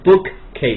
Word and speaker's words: bookcase: 因为他读的是 bookcase，他认为两个单词是要都读的。记住，在英文中两个发音是一样的东西叠合在一起，这个英